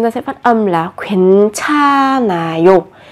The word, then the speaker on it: 괜찮아요: Ở đây chúng ta sẽ phát âm là 괜찮아요. Ở đây bắt chim kép nhưng mà âm h được coi là âm câm.